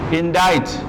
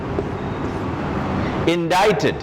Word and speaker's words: indicted: then we have see sound is there but this is not pronounced so how do you write indite indicted it not in dicted